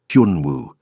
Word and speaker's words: Hyunwoo: "Hyunwoo." He said it slowly. "Hyun like hun, but with a y sound. Woo like woohoo."